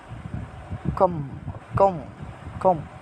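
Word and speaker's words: comb: ঢুকছে আশা করা যায় তারপরে দেখ আরেকটা দেখ কম কম কম চিরনি কম চিরনি কম্ব শব্দ এই মূলত ছিল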